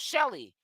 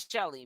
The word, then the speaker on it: Shelly: can't do nothing without Shelly it seems like she can't do nothing solo Shelly is pronounced shell not Shelley man what what is